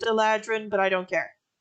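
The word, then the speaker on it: eladrin: a creature static uh eledrin i know i know technically it's pronounced eladran but i don't care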